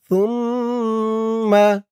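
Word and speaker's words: ثُمَّ: সুম্মা, সা দিয়ে মিম ধরবে, সা মিম পেশ সুম, সার উচ্চারণটা নরম হবে। সা আর জাল এই দুইটা অক্ষরের উচ্চারণ মুখের এক জায়গা থেকেই হয়।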